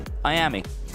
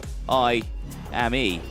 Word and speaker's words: Miami: And that is the pronunciation of Miami, because you say Miami. Yep. I say I-am-e, which is how it's actually spelt.